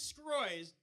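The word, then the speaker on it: Sgroi: before Kim Kardashian's ass my name is scroy's that's my last name it really is uh it's only five letters it's spelled s-g-r-o-i seems simple but it's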